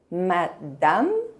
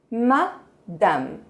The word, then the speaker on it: madame: Madame, monsieur, mademoiselle. Algumas dicas de pronúncia para você. Madame. A letra E no final quase não se pronuncia. Não vamos pronunciar madame, vamos dizer madame.